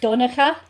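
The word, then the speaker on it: Donncha: is just crazy but it's more like doneca so it's d-u-n even though it's about d-o-n-n i know irish people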